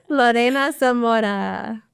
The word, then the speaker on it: Lorena Zamora: Lorena Zamora.